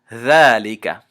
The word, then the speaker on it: ذَلِكَ: So in the example that you see on your screen below, the word is ذَلِكَ.